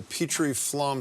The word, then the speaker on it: Petrie Flom: She's the executive director of the Petrie Flom Center. I pronounce it properly?